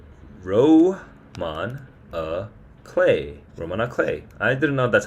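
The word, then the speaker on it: roman à clef: semi-autobiographical with names changed it's regarded as a Romano Cliff which is like a um um actually I I think about I don't even remember what this means Roman aay e Roan a clay Roman a clay I didn't know that's how you pronounce it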